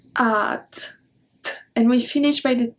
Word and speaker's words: hâte: going to be conjugated most likely and then at so we don't pronounce the ash and then the axon circumflex is a soft up so it's at and we finish by the t because we